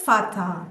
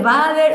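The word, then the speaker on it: Vater: La la la B no se dice como la B dentilabial en el castellano, sino como una F. Entonces es fatal. Ya. Claro. Nosotros nosotros y bueno, eso de Bader, o sea, ya ahí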